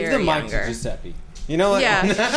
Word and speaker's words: Giuseppe: to Giuseppe.